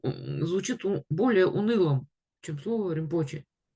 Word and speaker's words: Rinpoche: То есть само по себе слово толку звучит более унылым, чем слово римпоче. Потому что римпоче, и мы там, последний у нас слог, он как бы на восходящий идет. Римпоче.